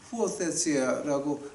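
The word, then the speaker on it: υἱοθεσία: 헬라어로 보니까 이거 갖다 어떻게 읽냐면은 후오테시아라고 발음을 합니다. 이제 오늘 제가 오늘을 한 2개만 하겠습니다. 죄송합니다. 제가 아는 거를 잘하는 것이 아니라 꼭 필요해서 제가 좀 하는 겁니다. 후오테시아라고 말할 때 이제 그 양자됐다라고 하는 걸 말하죠.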